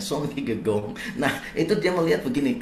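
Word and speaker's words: Søren Kierkegaard: bernama son kigegong gitu tulisannya soren kigegard gitu bacanya son kigegong Nah itu dia melihat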